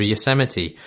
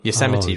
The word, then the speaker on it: Yosemite: He also has a PS saying, how did none of you yell at Marsh for his bizarre pronunciation of Yosemite? I mispronounced Yosemite.